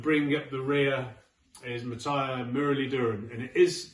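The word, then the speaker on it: Muttiah Muralitharan: So Broad and Anderson are my 9 and 10, and bringing up the rear is Matthias Muralidharan, and it is pronounced like that because I did a documentary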